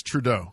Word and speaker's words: Trudeau: Canadian unb Prime Minister Minister prime minister Justin trudo um basically said he said it's with deep sorrow I think it's Trudeau trau let him have his day give me give me my American pronunciation please it's okay that's a Texan hooked